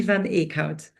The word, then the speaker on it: Van Eot: I know it's not so easy to pronounce, but it's Cindy Van Eot.